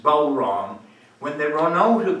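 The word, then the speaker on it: bodhrán: And appropriately, I'm playing the Bowron, which is made of goat skin. When they run out of goat skin to make the Bowron, which is spelled B-O-D-H-R-A-N, but pronounced Bowron, when they run out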